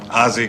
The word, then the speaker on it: Ozzy: Al, I'm Ozzy. Rhymes with. Ozzy. Yeah, most people like that.